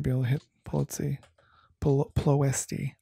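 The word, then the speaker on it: Ploiești: able to hit policy plosty i always say it wrong i always want to say like nancy pelosi but like no ploisty so that'll uh that'll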